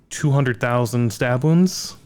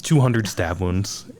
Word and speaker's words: 200 Stab Wounds: White Chapel, Brand of Sacrifice, 200,000 stab wounds. Just 200. You always get this name wrong. I say 2,000 200,000. Uh but it's 200 stab wounds and then Aluville.